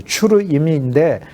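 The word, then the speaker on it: צורים: 그런데 수르 수르임이니까 수루인데 추루라고 이제 발음은 원래는 추루라고 하죠. 추르임인데 추르가 반석을 가르쳐요.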